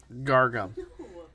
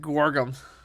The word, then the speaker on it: guar gum: So there's macro, sugar, water, soybean paste, ginger, yeast, and gargum. Gargum, is that how you say it? Gargum? Guagum. All right, guargum.